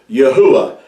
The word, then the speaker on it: Yahuwah: You would have to pronounce these letters in ancient Hebrew Yahuwah, and I'm going to show you why that is the reason for this.